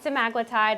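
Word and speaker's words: semaglutide: of right this the semi-glutide is a yes is how you pronounce it so semi-glutid some aglotide it's kind of like tomato tomato but we say it both ways the trade name of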